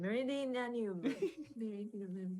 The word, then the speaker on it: Meridianum: And then of course, the Praetorium and the Castrum Meridian, sorry, I can't pronounce it. Meridianum.